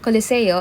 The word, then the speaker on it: Colosseo: I just made it to the Colosseum or Colosseo as the locals say.